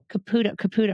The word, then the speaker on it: Caputo: And I'm going to say, Caputo, right? Am I pronouncing that right?